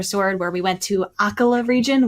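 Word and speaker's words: Akkala: where we went to akala region which I realized I've been pronouncing wrong the entire time I've always been saying aala region um and I I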